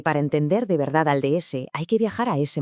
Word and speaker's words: DS: En francés, si pronuncias esas dos letras seguidas, D y S, suena exactamente igual que DS, que significa diosa.